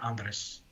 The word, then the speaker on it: Andreas: andr I think it's it's spelled Andreas but I think in the movie they say Andres Andre okay fair